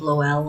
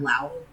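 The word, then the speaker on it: Lowell: L O W E L L. I've heard it pronounced both Lel and Lao.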